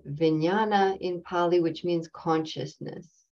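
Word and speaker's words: viññāṇa: the last of these five Aggregates is called vinyana in Pali which means consciousness is spelled v-i-n-n-a-n-a in poly and uh Consciousness is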